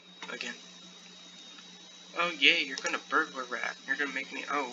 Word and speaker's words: Burglar Rat: The burglar rat, it's not bugler rat. I've probably been saying it wrong this entire time, haven't I? My bad. It's a burglar rat, not a bugler rat.